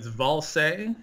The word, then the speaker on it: Ballze: Yeah, no, it's Valse. It's a German origin, which it's a genealogy story that I'm not going to get into. But yeah, it's if anybody tries to pronounce it, it's as if you spelled it Vallse, so Valse.